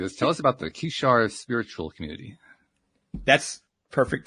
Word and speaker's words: Kishar: Tell us about the Kishar spiritual community. That's perfect pronunciation.